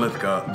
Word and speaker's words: Lithgow: Right alongside with John Lithgow.